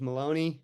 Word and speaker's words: Maloney: is is uh Maloney it rhymes with baloney uh please call me